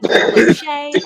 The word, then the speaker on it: Tokoloshe: There are a number of different ways you can pronounce this monster's name. That's Tokolosh, Cumbrian Truth, man. Tokoloshi, Tokoloshe, and many more.